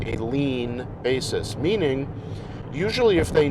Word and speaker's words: lien: will treat on a lean basis okay a lean is uh it's not spelled like lean on the wall or lean on the desk it's spelled n l-i-e-n it's a legal word